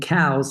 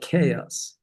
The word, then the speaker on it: chaos: I was saying cows instead of chaos. Chaos.